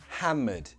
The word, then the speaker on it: hammered: Be careful of the pronunciation. There are only two syllables in this word. Hammered.